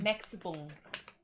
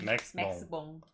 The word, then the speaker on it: Maxibon: Maxibon. Oh, it's just the same. Yeah, same. Maxibon.